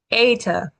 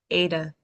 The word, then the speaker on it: eta: Eta. Eta is another like E sort of sound. It's a long A though, which is fun.